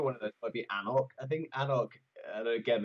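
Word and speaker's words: anCnoc: It's a name that many people can't pronounce because they make the C capital, even though the C in the middle is the one that you don't pronounce.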